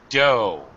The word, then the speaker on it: dough: uh first of all dough just like Homer Simpson says KO okay no F sound the g is silent all right tip the